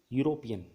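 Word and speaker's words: European: ही अ यूरोपियन country यूरोपियन में य की साउंड आती है अ की साउंड नहीं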